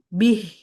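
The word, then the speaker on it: بِهْ: Eh, bihnya enggak boleh panjang itu bih. Hi. Oh, hya ya, Pak. Enggak pakai panjang juga hin-nya karena kan berhenti. Ya, bacanya gimana? Jadi bihi enggak bacanya bih.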